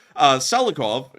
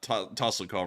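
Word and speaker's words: Tsalikov: Salikov, was just how you actually pronounce it, not Taslikov or however I was saying it, has been described as a patron of Ivanov.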